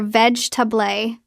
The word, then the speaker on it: vegetable: Or you see the word vegetable, vega, four syllables, but you hear veg tubé, three syllables.